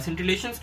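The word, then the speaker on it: scintillation: सिंटिलेशन क्या होता है, ये परफेक्ट प्रोनाउंसिएशन है इस शब्द का, ठीक है, सेंटी SCIN, ठीक है, SCIN TILLATIONS। और ये सिंटिलेशन का मतलब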